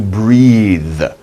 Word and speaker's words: breathe: First is BR, burr, burr. And the next one, TH, the. So, breathe, breathe.